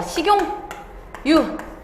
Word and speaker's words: 식용유: 그 다음에 또 불여우, 그 다음에 하나 더 식용유. 자, 근데 얘들 발음 어떻게 한다고? 색연필이 아니라 생년필, 그 다음 불려우, 식용유라고 해서 없었던 니은이 들어간다고. 근데 얘네들의 환경에서 조금만 구체적으로 들어가면 일단 두 단어가 합쳐져서 만들어진 거야.